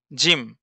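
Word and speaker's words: جيم: তার নাম জিম জিম জিম উচ্চারণ আছে জিমের উচ্চারণ জিম জিহ্বার মাঝ হতে শক্তভাবে আদায় হবে জিম জিহব্বার মাঝ হতে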